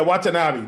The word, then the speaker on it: Watanabe: get these names right i don't want to mispronounce something yeah watanabe there we go so uh so yeah that